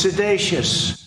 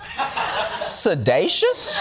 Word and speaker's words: seditious: Irrefutable proof that Obama was seditious. No, booze aside. Sedacious? It feels like he's mispronouncing a new black friend's name.